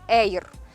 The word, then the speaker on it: Air: стійкої падалиці До речі ця технологія соняшника оця аїр як ми чи Ейр чи Air хто Як називає Ну насправді Ейр Так вона читається вона передбачає що цей соняшник